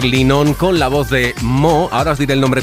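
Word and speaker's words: MØ: Pero claro, afortunadamente se puso mo que se pronuncia mi, que lo he estado mirando.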